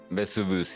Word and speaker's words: Vesuvius: DM, I don't know how to pronounce this. Vesuvius.